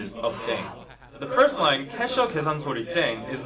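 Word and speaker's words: 땡: playing with language now the pronunciation of dang is similar to thang which is the slang of thing in english last but not least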